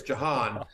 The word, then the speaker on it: Jahan: I don't know how they pronounce it in Australia, but here in America, it's Jahan. The J is the stronger there than you pronounced it here.